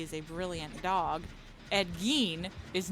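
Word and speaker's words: Gein: Um, so meanwhile my grandma, she got a gin. Ed gene. It's not gine, it's gin. G e i n. Gene. It's pronounced ed gene as far as I'm aware.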